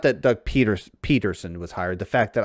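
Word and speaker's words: Pederson: uh back in his it's not really pronounced pedersen i know i'm gonna keep doing it though just to remind folks at home fake news it does not pronounce patterson it's peterson almost like peterson with a t it's peterson with a d uh fantasy speaking his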